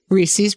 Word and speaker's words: Reese's: Reese's Peanut Butter Cups. It's Yeah, it's Reese's. Like it rhymes with pieces, not Reese's Pieces.